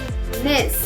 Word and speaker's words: mês: It has a closed E sound. mês, êxito.